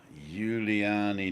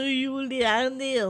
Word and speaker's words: Juliani: And we also have Juliani Nendel, Hello, everyone. Hello, BB people. the Balcony Banter people. That's also Juliani and not Julian.